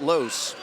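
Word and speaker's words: Loce: L-O-C-E is how you spell it, but you pronounce it Los.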